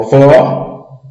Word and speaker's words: vó: Veja, vô, timbre fechado. Tem um ecozinho, ó, vô. Vó, aberto. Não tem aquele eco quando você pronuncia. Vó, aberto. Vô, fechado. Vô emite um ecozinho quando pronunciamos a palavra.